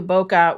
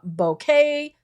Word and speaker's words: bokeh: look in photography, and you'll hear many people pronounce it different ways. Everything from bokeh, bokeh, bokeh, which is correct. I've Googled it many times, and the closest that I can get is kind of like bokeh.